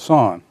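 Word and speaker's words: San: on the planet and kept calling her middle name Yan instead of son and also in Burma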